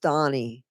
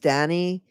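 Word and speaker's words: Dhani: you know George Harrison his son is is pronounced Donnie right it's Donnie but I I call Danny it's D and I I throw like d i i just I always thought it was pronounced Dany and that's just and I realized later it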